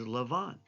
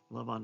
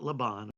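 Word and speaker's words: לבן: The Hebrew, modern Hebrew word for white is Lavan. Lavan, not Laban or Laban.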